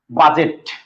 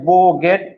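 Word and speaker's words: bougette: DGE double T ই, এটা উচ্চারণ আছে বোগেট, বুগেট, সরি বোগেট আর হচ্ছে বুজেট, তিনটে উচ্চারণই পাইছি ভাই, কোনো সমস্যা নাই। বোগেট, বোগেট, বুজেট।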